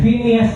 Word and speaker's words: Phinehas: pangalan nies ay finas Ayan finas po ang pagpronounce nila sa pangalan ni finas ayan question Ready na